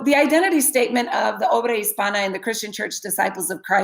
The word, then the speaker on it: obra hispana: So obra hispana is pronounced just like that, hispana. It is not pronounced Hispania. Hispania, I believe, comes from people trying to think about Spain and how Spain is pronounced in Spanish, but it would have a ñ sign if it were pronounced Hispania. So the N is an N sound.